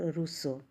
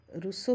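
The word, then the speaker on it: Rousseau: Monte skew Voltaire और रूसो रूस की प्रसिद्ध पुस्तक का नाम क्या है रूसो की रूसो रूस नहीं रूसो यह जो दार्शनिक है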